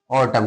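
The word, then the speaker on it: autumn: Condemn ऑटम ए यू टी यू एम एन ऑटम क्या पढ़ते हैं?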